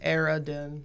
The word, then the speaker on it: Aradin: Say it phonetically. Aradin. That's how I wrote it down. Oh, with an A. Yeah, like A. No, write it down. AIR dash A dash DEN Oh, fast.